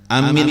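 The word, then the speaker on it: آمين: A-nya panjang, min-nya panjang. Amin. Kayak biasa. Nah, boleh misalnya apa? Handap keduanya. Amin. Boleh.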